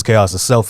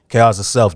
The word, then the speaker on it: TChaositself: My name is TChaositself. I spell it T. TChaositself. The T is sounding like the D in Django.